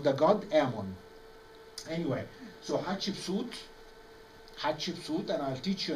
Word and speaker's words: Hatshepsut: Anyway, so Hatshepsut, and I'll teach you an easy way to pronounce the name Hatshepsut, because after we finish the lecture, I will ask you to repeat the name, please. Yeah? Hat, ship, suit.